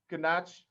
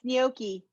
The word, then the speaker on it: gnocchi: share with you so g is for ganache hold on it's gnocchi gnocchi thank you thank you but